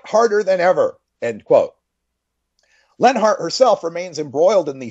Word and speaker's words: Leonhart: Leonhart, but it's pronounced Lenhart. Fire Lenhart is the hashtag if you want to get involved with that.